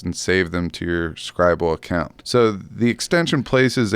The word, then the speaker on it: Scrible: pronounce it, but I'm going to say Scrible because it's like scribble, the word scribble without a B. So there's one less B there. So I'm going to go Scrible Toolbar is the name of the extension.